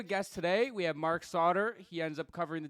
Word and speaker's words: Sautter: Oh, dude, it's Sautter, it's Sautter, it's Sutter, and some people, this is rare, but it's happened because my first name's spelled with a C, right?